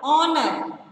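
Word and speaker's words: honour: Sixth one, honor. Honor. H-O-N-O-U-R. Again the letter H is silent, so circle the letter H.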